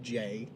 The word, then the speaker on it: Jai: I think he's a name is pronounced jai jai courtney j AI play Captain Boomerang I